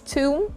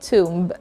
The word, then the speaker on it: tomb: not debt last word it's tomb and not tomb alright that's just a